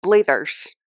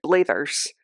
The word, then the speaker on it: Blathers: name of this character because it is spelled similar to Mathers I have always on my own pronounced that blathers and there were multiple